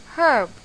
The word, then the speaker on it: herb: is n why because H in the word herb is a silent letter we do not pronounce herb we say it as herb so it should be